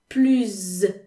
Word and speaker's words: plus: than you okay so two cases where you don't pronounce the s in plu at all if plu if plu